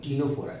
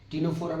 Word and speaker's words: Ctenophora: Now you see the next phylum is phylum Ctenophora. C is silent. Ctenophora means they are also